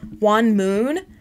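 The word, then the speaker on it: Huon Moon: It's Juan Moon. Michael, it's spelled H-U-O-N-M-O-O-N.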